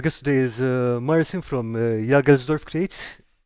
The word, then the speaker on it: Jagelsdorf: So, our guest today is Marcin from Jagelsdorf Creates. Did I pronounce that right? Jagelsdorf? Yeah, Yaroslav, that's right.